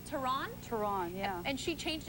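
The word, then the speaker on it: Theron: of course is chares terrone yes teron as she's changed her name from the South African pronunciation oh didn't know that tell me more uh that's actually how you say her last name and off foron she's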